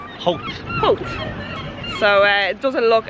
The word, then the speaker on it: Howth: it so they obvious they don't pronounce it held health it's hoped so it doesn't look